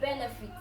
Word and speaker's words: benefit: But for the word benefit, benefit, the stress is not on feet. The stress is at the first part of the word, on the first syllable, benefit, benefit.